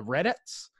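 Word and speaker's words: Redettes: well yeah I mean I think I'm saying it right it's like re d e TT es okay okay right so it's not like read it like that to make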